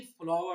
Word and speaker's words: flour: ये जो हम कहते हैं ना फ्लोर मिल, एक्चुअली फ्लावर मिल होता है. FLOWER, FLOUR both have same pronunciation.